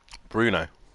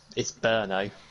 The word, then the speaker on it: Brno: How do you pronounce the track name, Dan? Bruno. It's Brno.